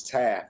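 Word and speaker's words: Taffe: It's Taff. The E is silent.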